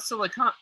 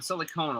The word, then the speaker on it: silicone: I almost forgot that it's not not silicon not uh silicone silicone oil it's it's right no